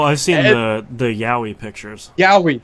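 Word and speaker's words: yaoi: Yowie, that's how you say it.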